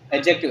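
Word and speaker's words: adjective: ठीक है, अब नेक्स्ट वर्ड है एडजेक्टिव। एडजेक्टिव में डी साइलेंट होता है तो आपको पता ही है।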